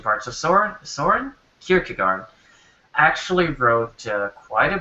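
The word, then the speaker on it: Kierkegaard: No, I looked it up in uh a sound pronunciation lesson. It was Kirchugard in English. Anyway, anyway, past the pronunciation part. So Saurin Saurin Kirkagard actually wrote uh quite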